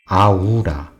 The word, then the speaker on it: Aura: Aula, A can be pronounced and written as A. And U can be pronounced with U. And R can be pronounced with Lil. Finally, A is pronounced A. After all, it can be pronounced as Aura.